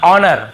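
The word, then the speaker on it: honour: पढ़ना है देखिए ऑनर हम इसे क्या पढ़ते हैं ऑनर ठीक है हनर नहीं पढ़ते हैं एच नहीं पढ़ना है ऑनेस्ट बहुत चलो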